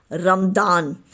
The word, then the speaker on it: Ramadan: Ramadan is the Arabic pronunciation and spelling, while Ramzan is the common pronunciation in the Indian subcontinent, Persia and Turkey.